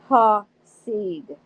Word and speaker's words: Hasid: He put the emphasis on the first syllable. "It's Ha-Seed," David said.